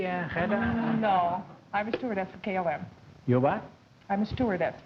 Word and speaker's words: KLM: just what is Clum it's not Clum it's km and that stands for